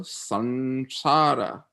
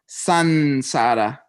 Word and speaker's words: samsara: It's not samsara, it's sansara. Okay? Samsara is a misspelling because somebody mixed up transliteration and transpronunciation like 200 years ago in British India or something.